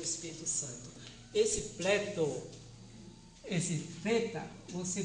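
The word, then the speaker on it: θ: Santo esse pleto esse feta você pronuncia assim aquele th do inglês que fala thank you I think eu penso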